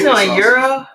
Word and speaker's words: gyro: for my fries actually euro once and yes that is the proper way to say not gyro that's right that's right i put a g in front of it right because the english